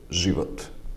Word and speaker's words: život: its own pair, Z, or Z with a Karen, which is pronounced as Ž, like I said, and can be heard in the word život, meaning life.